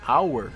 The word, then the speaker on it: hour: Por exemplo, no an hour, né? Por mais que a palavra comece com H, que é uma consoante, você não pronuncia essa consoante.